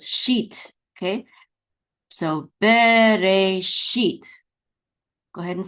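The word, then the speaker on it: בְּרֵאשִׁית: So this is Bereshit. The accent is on the last syllable, sheet.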